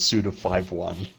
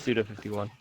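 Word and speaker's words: Suda51: It is Suda 51. Yeah. I just prefer to say 5-1.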